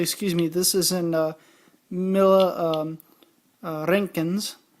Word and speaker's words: Roentgens: And if I switch this to the inappropriate microsieverts, actually, excuse me, this is in Roentgens, roll your R, not much.